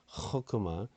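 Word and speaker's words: חָכְמָה: 발음하는 것 같은 거는 아까 그 호크마 같은 헤트를 허크마 우리는 호크마 이러는데 허크마 약간 이런 게다 무사르도 무사르 이렇게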